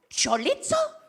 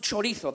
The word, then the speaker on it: chorizo: And she goes, oh, chorizo? And I go, no, it's pronounced chorizo. That's how they pronounce it in Spain.